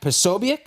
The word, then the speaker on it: Posobiec: The article goes on to cite right-wing figures, including Vivek Ramaswamy, Jack Posobiec. Is that how I pronounce that last name? Yeah, Posobiec.